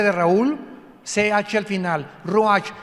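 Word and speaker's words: רוח: suena, con R de Raúl, CH al final, ruach, y se pronuncia ruach.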